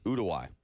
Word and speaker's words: Uruguay: Uruguay.